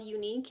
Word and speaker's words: Uneek: The store is called Unique and Yours. Unique is spelled U-N-E-E-K.